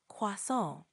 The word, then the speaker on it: croissant: Croissant. Pretty close. Try emphasizing the nasal sound at the end a bit more, like croissant.